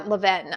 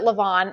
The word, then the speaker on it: Levain: This is SNIF Mornings at Levain, or Leven. I think she pronounces it Levain. My friend Drew says it's Leven. So I'm going to say Mornings at Leven.